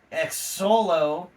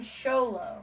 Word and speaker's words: Xolo: the first name is x-o-l-o ex solo and the last name is merid duena Mara dwayna but he says it's show though yeah people call him sholo yeah so now what